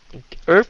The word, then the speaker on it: herb: Herb cái này đó. Herb cái này là người Anh gọi là herb cái âm h, còn người Mỹ gọi là herb là cái âm câm, phát âm là herb.